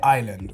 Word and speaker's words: island: We say island, right? So the S is silent.